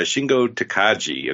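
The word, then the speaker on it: Shingo Takagi: those Bona fides yeah I have to correct you it is a shingo takaji according to uh both announcers so apparently we've been saying it wrong uh all these years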